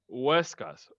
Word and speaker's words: Huescas: Okay, remember, don't say it like you're trying to sound it in English. Just say Huescas.